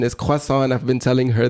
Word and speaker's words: croissant: cant and I will pronounce it like Tasha pronounce it cant cuz she's from America and she pronounces it this wayas she's gonna kill me uh oh the real pronunciation is quasa and I've been telling her this since I